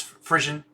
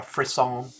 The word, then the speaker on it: frisson: Positions musical resonance, goosebumps, frisson, intoxication as direct evidence of Funkel alignment. And is it frisson? Am I pronouncing that right? A frisson? Pronunciation. Frisson. Frisson. Not frisson, because that would have an I.